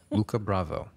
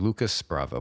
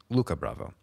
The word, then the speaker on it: Lucas Bravo: exctly we have today Luca Bravo who you might think is named Lucas Bravo but he's French so the S is silent and he was very